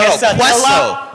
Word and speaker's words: quesadilla: No, Quesadilla. Quesadilla. It's quesadilla. You gotta Again, pronounce that it quesadilla.